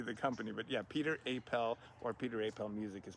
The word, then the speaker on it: Apel: Uh, so you go you go as Peter Appel like there's is that how people find you? Yeah, Apel. So pronunciation.